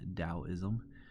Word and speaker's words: Taoism: We'll also be talking about Taoism. Although it starts with a T, it's pronounced with a D sound, Taoism.